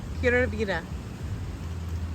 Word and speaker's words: Pura vida: Pura vida.